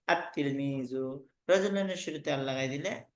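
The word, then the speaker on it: التلميذ: যেমন তিলমিজুন শব্দের শুরুতে আল লাগাই দিলে দেখতে আসবে আল তিলমিজু, পড়তে আসবে আত তিলমিজু।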